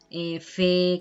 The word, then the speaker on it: fer: También en el catalán oriental, normalmente las R's al final de palabra no suenan, normalmente. Hay palabras, por ejemplo, mar, pues que sí, pero normalmente cuando son sobre todo verbos, ¿no? Fer, cantar, dormir, no se pronuncia la R al final.